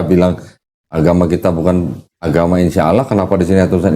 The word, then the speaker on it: insya Allah: Insya Allah tulisannya. Di situ nggak ada tasdidnya, jadi bacanya insya Allah gitu.